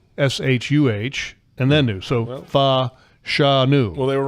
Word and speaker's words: Fashanu: So he in theory could get there this week with a massive game against Olu Fashanu, the left tackle.